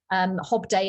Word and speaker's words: Hobdey: so that everyone's clear hob day is spelt d-e-y um even though it's pronounced d-a-y so d-e-y and mayday